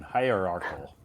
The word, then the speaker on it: hierarchical: Wow, yeah, that's a big one, hierarchical. Yeah. Hierarchical. Let me see where is Uh-huh. Hierarchical. Again, the C sound in this word sounds like K. K, K. right? Yeah, it has a K pronunciation.